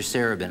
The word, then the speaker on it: Sarabin: I believe the correct pronunciation is Mr. Wisnowski and Mr. Sarabin.